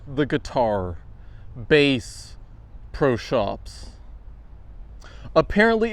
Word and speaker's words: Bass Pro Shops: Shops like the guitar bass pro shops. Apparently, it's pronounced Bass Pro Shops because it's clearly named after the fish, not the musical instrument.